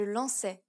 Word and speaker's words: lançais: The final accent is the cedilla, and it only applies to the letter C. S, This causes the letter C to be pronounced as an S sound. garçon, je lançais.